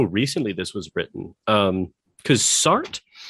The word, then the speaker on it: Sartre: Well, is it two syllables? I'm on fat. I looked up multiple pronunciations, and everybody said Sartre. Okay, I've always heard it. Apparently, the French is like Sartre. It's not. It's two. Well, I think it's two syllables. The French just don't like emphasizing.